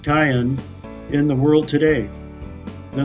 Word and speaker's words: Karen: there are about 30,000 Karen or more correctly pronounced Cayenne in the world today